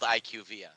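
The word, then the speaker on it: IQVIA: and found out that they're called IQ via that is nowhere near that is nowhere near is fun iqv doesn't even make sense you can't pronounce the first two letters and then the rest of the word gentically that's not how it works but that that's what it is it is IQ via they literally had the whole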